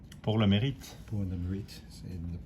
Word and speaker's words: Pour le Mérite: to, so that is the, how do you pronounce it, pour le mérite? Pour le mérite.